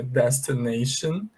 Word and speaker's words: destination: que é o seguinte, quando houver um A antes do T-I-O-N, esse A é pronunciado com som de EI, tá bom?